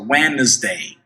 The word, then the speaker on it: Wednesday: Wednesday, preste atenção na pronúncia de Wednesday, que a gente não pronuncia o D, a gente vê o D ali, mas ele não é pronunciado. Olha só, Wednesday.